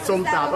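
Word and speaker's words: som tam: So You have to pronounce somtam, yes.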